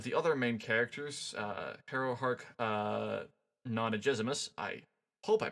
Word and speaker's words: Nonagesimus: other main characters, Harrowhark Nonagezimus. I hope I pronounced that right. There's a pronunciation guide, and I'm still bad at it. I think it's a hard G, Nonagesimus.